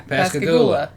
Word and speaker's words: Pascagoula: know I where it pronounced it right? Yeah, Pascagoula.